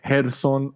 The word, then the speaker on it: Gerson: Ricardo Sandoval gets the 21st win of his career over the second round KO over Gerson Ortiz. That's how you say it in Spanish. Gerson Ortiz.